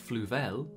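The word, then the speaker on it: Fluval: adding fish i've got a fluvel that's how you say it filter and a bubble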